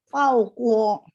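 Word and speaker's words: 包括: termasuk 包括。 Pau-nya udah benar. K baca KH. Jadi dan ada 4 ya.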